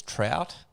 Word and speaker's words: Trout: The first part is Trout, pronounced like the fish, Trout.